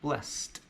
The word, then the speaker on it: blessed: it becomes we're blessed notice also that blessed even though it ends with Edie it actually sounds like a tea blessed whereas if we compare